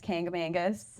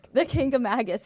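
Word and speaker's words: Kancamagus: is the uh famous kangam Mangus k kagus k there is no n there's no n except if you live here I'm going to try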